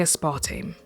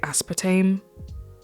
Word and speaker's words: aspartame: just before we begin I say a spa team I think Americans say aspartame I'm gonna say a